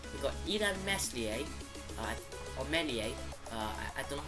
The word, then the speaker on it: Meslier: We got Ilan Meslier, or Melier. I don't know how you actually say his name. It's a French name. Melier, I think that's what they call him. The S doesn't actually, isn't actually pronounced.